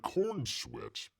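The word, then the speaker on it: Corenswet: It says, I can picture David Cornsweat receiving a similar marching. I call him Cornsweat. It looks like Cornsweat, doesn't it? It's Corn Sweat. I know how to pronounce it, people.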